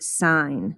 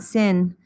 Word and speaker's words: sine: it out for you this is pronounced sign not sin sign and sine is the